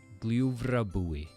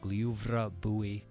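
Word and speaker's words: Gljúfrabúi: The u with an accent sounds like two o's in English, oo. So, Glyuvrabúi. Not too bad. No fuss in this one. You just got Glyuvrabúi.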